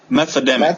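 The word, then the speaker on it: Methademic: Methodemic. Methodemic? Yeah, we go. Can't. Like meth and pandemic.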